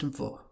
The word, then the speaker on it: वह: You also need context in spoken Hindi to determine whether this pronoun, or the pronoun spelled vaha, is being used, because both of them are pronounced as vo.